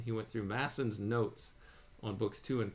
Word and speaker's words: Masson: went through somebody called I said Masons it's actually probably pronounced massons it's spelled m SS o n apostrophe s uh or sorry M SS o n he went through masson's notes on books two